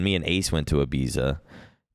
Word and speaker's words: Ibiza: where the B it's Ibiza but it's pronounced Ibiza like if you're Spanish it's pronounced that way I think so oh